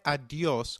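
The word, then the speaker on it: adiós: hasta luego very good did you notice the accent on the o in adios if a word is marked with an accent then that syllable receives the stress so try adios once again adios perfect an informal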